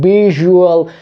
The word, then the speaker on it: visual: amb el concepte de Visual Effects. Fixeu-vos que la S es pronuncia com una J, visual, i la V baixa vibrant, visual.